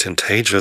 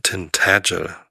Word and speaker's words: Tintagel: Das ist nicht Tintagel, sondern Tintagel, weil das A so ein flaches, kurzes ist, wie in Matt oder Cap. Tintagel. So, Betonung auf der zweiten Silbe.